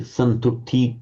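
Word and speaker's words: santuṭṭhi: And again, it's a short u followed by a double to so santuti. It's a heavy syllable. Santuti. The u is short, but the syllable is heavy because it's got a doubled consonant.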